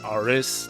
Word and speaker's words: Ares: I'm just going to call him Aris to reflect the Japanese pronunciation, I guess.